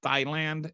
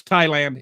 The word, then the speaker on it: Thailand: Global data centers use 200, and Thailand's total electricity use is 195. So this, like, just data centers use more electricity than the entire country of Thailand. Remember when Donald Trump said Thailand, and then Dinesh went like to war with